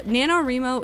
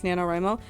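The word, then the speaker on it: NaNoWriMo: really funny to me I've always heard as nanoro well I think I heard it very early on from somebody else on the internet who pronounced it nanoro and then I clung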